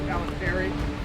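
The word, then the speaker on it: Paltrinieri: The race with 4 guys, the American and the former Olympic gold medalist 2016, Palanteri. That's pronounced correctly.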